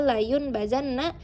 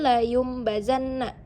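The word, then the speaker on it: لَيُنْبَذَنَّ: Jadi jika kalian membaca kalla layun bazanna itu salah. Tapi ee kenapa salah? Karena ini adalah iqlab. Jadi kita membacanya kalla layumbazanna itu yang benar.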